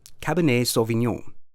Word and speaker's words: Cabernet Sauvignon: Cab in a cab nei saw the neon Cabernet Sauvignon you try read this without steak tonight I